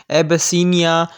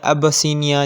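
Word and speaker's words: Abyssinia: तो उसका सही ऑप्शन है ऑप्शन डी, एबसीनिया या अबसीनिया, जिस तरह से आप इसको प्रोनाउंस करें आपकी मर्ज़ी है।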